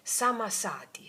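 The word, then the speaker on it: Sammasati: Si dice Samasati, Samasati, Samasati. Ok? Samasati in questo modo.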